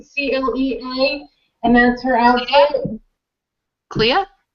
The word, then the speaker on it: Clea: CLEA, and that's her outfit.